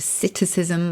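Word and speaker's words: psittacism: know parrots absolutely do it's called a cism with a silent P or we ape another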